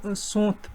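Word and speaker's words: Tsont: आप लिख लेना TSOONT, इसका प्रोनाउंसिएशन कर लेना आप, सोंथ बनता है, सोंथ कूल, सोंथ कूल, KOL, ठीक है, याद रख लेना सोंथ कूल।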